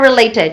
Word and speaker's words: related: uh something are related relate but you drop the ID sound so emphasized in ah the icon again sorry that's the D okay D sound so emphasis okay it it should be related so it's a final e remember related it's a final